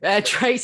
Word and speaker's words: Tres: Trace, are you on Twitter, Facebook, social media? I am, yeah. It's so my name is spelled Tres, and then it's just Trace writes stuff on pretty much every social media platform.